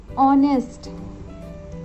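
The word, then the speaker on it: honesty: Honourable, ऑनेस्ट, ऑनेस्टी, ये जो words हैं इनका फर्स्ट लेटर एच है। अगर हम देखें तो HO, इन सब में HO आ रहा है, जिसको हम प्रोनाउंस करते समय बोलते हैं ऑनरेबल, ऑनेस्ट, ऑनेस्टी, ओ। तो इसका प्रोनाउंसिएशन कौन सा साउंड दे रहा है?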